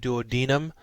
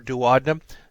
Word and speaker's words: duodenum: Some people pronounce it duodenum. I prefer duodenum, jejunum, and ileum.